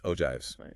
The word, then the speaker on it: ogives: Ogives pronounced ogives.